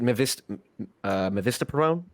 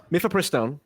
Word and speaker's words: mifepristone: So whatever is it mivistaprone? Or how do you, where'd it go? Mifepristone.